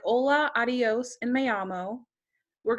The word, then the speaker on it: hola: So I know this word has an H in it, but in Spanish, you don't really say H's. So hello in Spanish is hola.